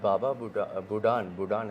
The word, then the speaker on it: Baba Budan: So tell me about Baba Budan, am I saying it right?